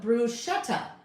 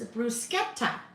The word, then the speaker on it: bruschetta: Bru and I always I always call it bruschetta. But it's not bruschetta. It's bruskeeta sket. Instead of s c h e tt tt sket not bruschett shet.